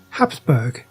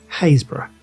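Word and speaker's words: Happisburgh: It isn't pronounced Habsburg, as you might be thinking. It's pronounced Hazbor.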